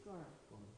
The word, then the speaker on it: Gaura: No, the second time you said like Guru and it's Gaura.